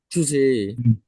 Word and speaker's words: today: টুডে কেমন? Today. টুডে, তাহলে ডেইতে stress, টুটা হালকা করে টাচ হবে, টুডে।